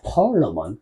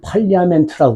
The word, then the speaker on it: Parliament: 파얼러먼. 담배 이름도 있어요. 여기 편의점 보는 아이들이 얘를 팔리아멘트라고 그래요. 그래서 파얼러먼 한각 줘라. 네? 대학생이에요. 못 알아들어요. 원래 부분이 발음이 파얼러먼이에요. 근데 팔리아멘트라고 그래요.